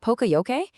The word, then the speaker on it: Poka-Yoke: Poka-Yoke, and you say it like Poka-Yoke, is a Japanese term that literally means mistake prevention.